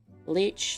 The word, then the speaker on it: Leech: Leech, Leech, it rhymes with beach.